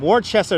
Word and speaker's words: Worcester: Oh, Worcester.